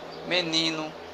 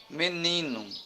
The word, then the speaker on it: menino: Menino, ni, é a penúltima sílaba. Por isso que ela é uma palavra paroxítona.